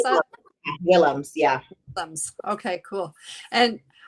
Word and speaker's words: Willems: did you say well is that how you pronounce that willems yeah thumbs okay cool and it's a unique